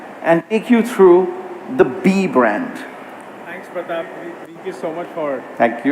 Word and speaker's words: BE: today two products today so let's first begin by talking about be I just want to clarify again it's spelled be e but the brand is pronounced